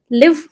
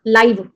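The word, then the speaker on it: live: लिव। इस लिव का मतलब क्या है? रहना। लाइव।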